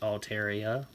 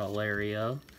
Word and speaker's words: Altaria: time so I guess I'll say it right Altaria not alario wide lens and a man Redick man that